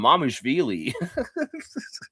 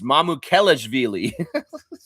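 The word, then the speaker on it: Mamukelashvili: The he announcer kept calling him Mamushvei. Dude, you're missing some syllables there, bro. It's Mamu Kellishi.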